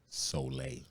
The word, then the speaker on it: Soleil: So it says in the back, it says just say Soleil.